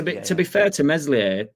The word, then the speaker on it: Meslier: to be fair to meslier silent s he I can't remember